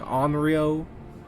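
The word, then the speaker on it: Henriot: I know I keep saying Henrio, but it's the H is silent, so it's like Henrio.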